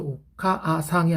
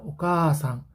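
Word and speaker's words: おかあさん: 그래서 오카아상이 아니라 오카상 길게 뺍니다.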